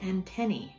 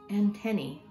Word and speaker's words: antennae: It was hard for me because I couldn't remember how to say it, but when it's more than one antenna, you say antennae. Can you say that with me? Antennae.